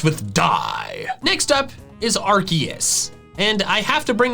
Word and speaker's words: Arceus: And in the end, they decide on Arceus, using arc and making the EUS sound like it does in Zeus.